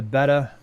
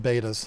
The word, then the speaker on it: betta: Well, I'm not a snob, so I call them betas still. You fancy fish people, you pronounce it betta, but The beta. if I'm being honest, I've tried my whole life. I've tried to switch to betta, and I just can't do it.